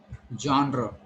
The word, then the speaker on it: genre: You have to call it genre. What is it? It's genre.